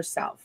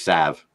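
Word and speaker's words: salve: for and that's her salv what is this a salv it's because I have back issues and stuff so that L is silent it is Sav Sav whatever Sal gosh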